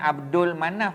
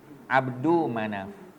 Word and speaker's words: Abdu Manaf: Bukan Abdul Manaf, ya, Abdul Manaf. Tak ada alif lam, tak ada Abdul. Abdul bukan Abdul. Abdu Manaf.